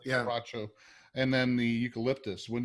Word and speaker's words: Quebracho: Quebracho, yeah. Quebracho, and then the eucalyptus.